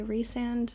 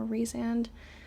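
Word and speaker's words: Rhysand: So, I'm really enjoying Amarantha and Ryzand. I know that most people say Reand or Rezand, but I actually heard someone pronounce it the way that I do recently and that felt very like not brush off.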